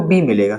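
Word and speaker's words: bomb: एम मिलेगा और एम के बाद में आपको बी मिलेगा है ना एम के जस्ट बाद बी मिलेगा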